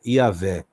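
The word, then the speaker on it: Yahweh: essa palavra essa expressão entendemos que a expressão mais correta ou mais próxima do que seria a pronúncia do nome de Deus é yahvé o grande eu sou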